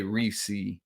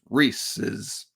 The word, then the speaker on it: Reese's: somebody was like bro it doesn't say Reese it's Reese's belongs to Reese Reese's I I get it